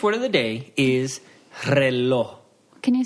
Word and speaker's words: reloj: All right, so the Spanish word of the day is reloj.